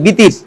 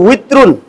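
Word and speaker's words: وتر: বিতির এটা আরবি শব্দের অর্থ হচ্ছে, আরবিতে উচ্চারণটা হচ্ছে উইত্রুন মানে বেজর, এটাকে আমরা বাংলাতে সহজ ভাষায় বলি বিতির।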